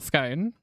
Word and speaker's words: scone: Scone or scone. Yeah, so scone rhymes with gone.